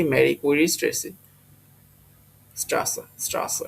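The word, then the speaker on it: Straße: তো রাস্তা হচ্ছে কি মেরি কুইরি স্ট্রেসি, স্ট্রাসা এটা জার্মানতে বলে স্ট্রাসা। এই বিটা থাকলে হলো ডাবল এস উচ্চারণ হয়।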